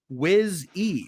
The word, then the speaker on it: Wizzy: So missed the answer, but I just listened, and my name is pronounced Wiz E.